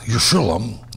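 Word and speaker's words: ירושלים: The place named Jerusalem, pronounced Yerushalayim in Hebrew, is a combination of two words.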